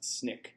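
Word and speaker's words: SNCC: The abbreviation is pronounced SNIK.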